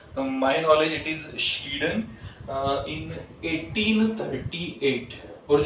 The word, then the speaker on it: Schleiden: Theodore श्लीडन, this person is often pronounced in, you can say, wrong manner. if अगर आप accent के language में discussion करोगे तो अलग अलग प्रोनाउंसिएशन है, लेकिन मैं स्पेलिंग पॉइंट ऑफ व्यू बोलता हूँ तो ये पर्सन है श्लीडन, SCHLEIDEN, श्लीडन।